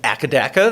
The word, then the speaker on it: AC/DC: Um, Thunder Struck by AC/DC, also known as Akadaka there. And hey, they're Aussie and that's how they pronounce it there.